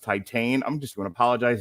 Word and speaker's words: Titane: by julia di cornell uh pronounced titan i'm just going to